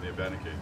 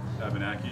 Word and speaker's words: Abenaki: And Did you say Abenaki? Abenaki. Yeah. I never heard it pronounced. That's the way it's supposed to be said. Yeah. Abenaki? A ben is dawn and a key is land.